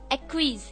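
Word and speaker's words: acquiesce: इसकी pronunciation differ कर सकती है, पर एक्विज इसे हम कहते हैं, ACQUIESC, एक्विज।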